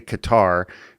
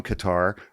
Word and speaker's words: Qatar: I say Qatar because people who are from Qatar are called Qataris. So I say Qatar. That's how I've always said it.